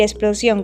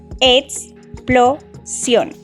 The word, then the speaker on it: explosión: Explosión contiene 3 sílabas, explosión, y es una palabra aguda. Las palabras agudas son las que llevan el acento en la última sílaba y se les pone